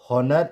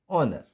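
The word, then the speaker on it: honour: एंड नाउ नॉट हॉनर, इट्स ऑनर, ऑनर।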